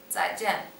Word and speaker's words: 再见: 再见.